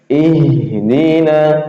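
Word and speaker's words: اهدنا: Ihdina itu masih keluar ya. Ihdina. Hames sifatnya hames dan dan juga sifatnya rakhah masih jalan. Ih enggak berung ihdina tapi ih ya kemas jalannya.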